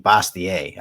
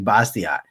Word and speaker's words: Bastiat: Highly recommend Bastiat, by the way. Phenomenal. For decades, I pronounced his name Bastiat.